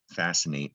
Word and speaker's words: fascinate: And in this example, it seems like fascinate should be spelled with 2 S's. You don't hear the C.